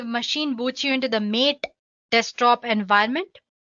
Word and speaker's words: MATE: boots you into the mate desktop environment let me pronounce it M80 you can call it whatever you want mate or mate desktop environment